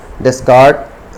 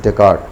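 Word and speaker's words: Descartes: डेस्कार्ट rule of change, और डेकार्ट, sorry गलत pronounce हो गया, that is डेकार्ट, Renee डेकार्ट है, that's the name of the philosopher.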